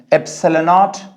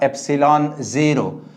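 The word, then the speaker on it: ε₀: इसे दो तरह से पढ़ते हैं, एप्सिलॉन नॉट या एप्सिलॉन जीरो।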